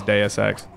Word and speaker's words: Deus Ex: had to convince my coworkers that it was Deus Ex. The most important lesson I learned. Sorry, go ahead. No, I'm just dying. Don't worry. It's fine. I never worry. important lesson I learned on Deus Ex is don't think you're being cute and funny